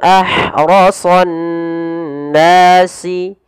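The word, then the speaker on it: أَحْرَصَ النَّاسِ: Ke nun, sehingga ditasydidkan nunnya. Maka cara membacanya ditahan suara nunnya. Ahrasan nasi. Ahrasan nasi. Nah, seperti itu.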